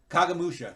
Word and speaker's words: Kagemusha: How do you pronounce Kagemusha? Kagamusha, that's right.